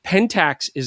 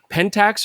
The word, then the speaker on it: Pentax: in a Japanese word do they want us to be saying Pentax or pentaxi they don't want us to be doing that right they love that everybody says at Pentax so anyways it makes